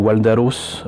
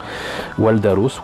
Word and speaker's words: Waldalos: le voit écrit là je rappelle que les Japonais prononcent de la même manière le R et le l donc ça explique beaucoup de choses donc là c'est bel et bien son nom waldaros wudaros et ben vous